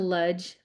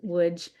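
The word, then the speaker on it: Łódź: full day um we went to Ludge which I think officially is pronounced WJ um it's hard for me to say um which um Ludge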